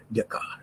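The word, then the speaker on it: Descartes: ডেকার Rene হারি এন এটু যেহেতু এই সেটা উচ্চারণ হয় হয়ে উচ্চারিত হয়নে হয় ডেকার আর সেই কারণে এই কোভিদ প্রভাব নাহিল কারণ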